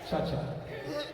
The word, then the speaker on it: Chacha: Two syllables. Two syllable.